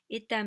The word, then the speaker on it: 있다: 있다 means to exist, to exist. And once again, that kind of a phonological thing is happening. 있다. And the funny thing is, you don't hear the s sound.